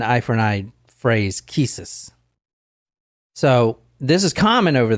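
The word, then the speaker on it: qisas: Golden Rule is called Kus I think I'm pronouncing that right Q IAS it's an Arabic term it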